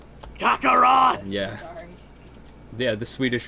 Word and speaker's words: Kakarot: I'm calling him Kakarat. Kakarot.